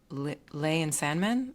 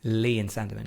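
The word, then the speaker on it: Lea & Sandeman: Still available from Lay and Sandman. How do you pronounce that? Lee and Sandeman, yeah.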